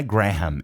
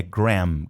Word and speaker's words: Graham: A pronúncia do nome do Graham, porque não é Graham, é Graham, Graham.